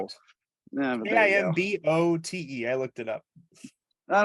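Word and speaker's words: Kinbote: and Pronounce it's Kim Boat. oh, Kimbolt. I thought it Yeah, was Kim Kimball. Boat. But there you go. Kimbote.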